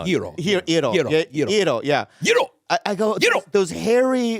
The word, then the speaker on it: gyro: It's a G-Y-R-O.